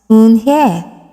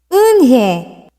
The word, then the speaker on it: Eun-hye: Yes, it's pronounced Eun-hye, and it means grace, Mr. Kim added. Eun-hye, Joey said slowly and this time perfectly.